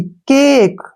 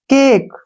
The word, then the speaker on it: cake: CAKE, केक, ठीक है ना। इसमें भी क्या है, ए के बाद एक कॉन्सोनेंट है और बाद में ई आया है, ठीक है ना, तो इसको हम ए पढ़ेंगे ऐसे, केक।